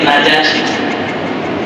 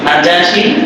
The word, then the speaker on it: নিজাশী: ওরা নামটা 3 বার উচ্চারণ, কোন জায়গায় লিখছে নাজ্জাশী, কোন জায়গায় লিখছে নিজাশী, কোন জায়গায় লিখছে নাজাশী। নাজাশী, নিজাশী, নাজ্জাশী, তিনটাই সঠিক, তবে বেশি সঠিক হচ্ছে নিজাশী।